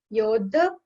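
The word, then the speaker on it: योधा: You have to put some pressure over DH here. Yodha means soldiers.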